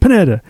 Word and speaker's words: Pineda: My name is Pineda. My name is Pineda. So it's too many syllables.